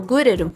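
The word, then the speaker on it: Grell: O shinigami que a gente vê pela primeira vez, que é o gurero, é assim que eles pronunciam no é assim que eu iria pronunciar.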